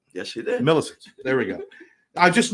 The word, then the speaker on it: Milisitz: Milisitz. Did I say it right? Yes, you did. Milisitz.